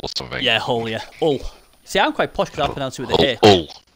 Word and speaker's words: Hull: But I'm quite posh. I say Hull with a H. Everyone else says Hull with a U.